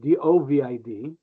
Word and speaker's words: Dovid: But the way to pronounce it, think of a white bird of peace, a dove, I-D, Dovid. That's the easy way to pronounce that.